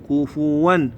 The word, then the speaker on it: كفوا: ننطقها ولم يكن له كفوا طبعا هاي الكلمه هوايه يخطؤون بها ما تقول كفوا احد لا تقول كفوا ك فوا كفوا لا تنسوها ركزوا عليها ان شاء الله احد ولم يكن له كفوا احد اعيدها كامله ان